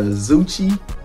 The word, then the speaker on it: Zoocci: And y'all told me how to pronounce it is Zoocci. It's pronounced like Gucci.